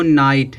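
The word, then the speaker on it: night: है आगे दिया है यहां देखो नाइट है लास्ट में जी एचटी आया है अब जीच है जी एचटी आया तो जीच क्या हो जाएगा साइलेंट हो जाएगा नाइट नाइट मीस क्या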